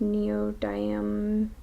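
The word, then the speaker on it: neodymium: also use a lot of magnets I use neo diam that's how you pronounce it magnets um and those are stuck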